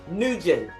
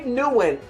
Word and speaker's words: Nguyen: Dave Nugent. Am I saying it correctly? Yeah, I say Nguyen, but Nguyen. Oh, that's right. No, make it right. Dave Nguyen.